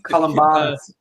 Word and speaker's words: Columbanus: It's Columbanus. I listened to the audiobook. It's Columbanus. Columbanus.